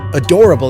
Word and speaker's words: adorable: Adorable in Spanish is adorable. Be careful, they are spelled the same but pronounced differently.